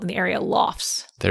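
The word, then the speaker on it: lough: called in the area lofts. There's that dialect popping up again. L O U G H loft. Yes. Clearly related to lock.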